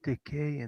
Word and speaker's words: Takei: Is it Takei or Takai? How do you guys pronounce it? There you go. It's Takei, and you have to add the hey.